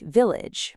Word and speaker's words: village: Words like village, manage, and damage don't actually have a full age sound. The ending sounds much more like itch and imagine, engine, origin. They use a soft g and a very light in sound.